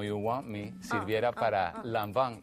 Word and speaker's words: Lanvin: Por favor, pronuncia, ¿cómo es que se dice? Lanvin. Lanvin.